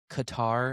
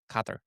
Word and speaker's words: Qatar: But that's not even yours isn't even close to how it's actually pronounced cuz it's actually like a G. It's pronounced with like a G. Kather.